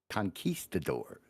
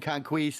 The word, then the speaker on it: conquistadors: Real quick, Western Echo says, my last comment for today is pronounced conquistadors. I don't give a shit. But he's been saying conquist.